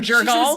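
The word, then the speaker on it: Jergal: She calls... Jiggle instead of Jurgle.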